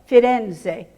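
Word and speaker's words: Firenze: are about to go fitenze three syllables in Italian Florence two syllables in English the third thing that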